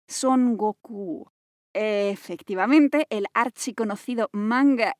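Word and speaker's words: 孫悟空: no te extrañe porque su versión japonesa se pronuncia son goku efectivamente el archiconocido manga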